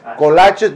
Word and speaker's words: kolaches: Oh, kolaches? No, kolaches. Say it like a Texan.